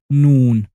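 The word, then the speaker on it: نون: And our 25th letter, noon. Noon is looking like a necklace with a nectarine on the top and sounds like the N of necklace and nectarine. You say noon.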